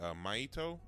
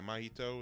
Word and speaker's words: Mahito: this little boy named maito I think is yeah mahito is how it's pronounced um who his mother